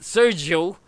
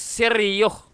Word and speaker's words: Sergio: the correct pronunciation of your YouTube channel, the pronunciation of former President Osmeña is not Sergio, but it's Sergio.